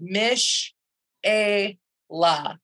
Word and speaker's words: Mishaylah: to each other but if you break it down it's spelled in a way that you should be able to sound it out Mish a la all right so hey